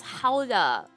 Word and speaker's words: Gouda: See, that only works if you're mispronouncing that cheese's name. Because the actual way to pronounce it is Hauda.